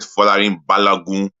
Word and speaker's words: Folarin Balogun: Yeah, I said Folarin Balogun in a Nigerian tone of accent. In other words, I'm trying to break down his name and how it's pronounced.